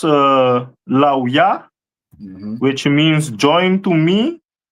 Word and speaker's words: Levi: This is the tribe of Levi, which is pronounced Lauya, which means join to me, and the stone is carbuncle.